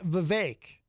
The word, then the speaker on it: Vivek: Vivek ramaswamy and by the way it is Vivek I know that because I saw him interviewed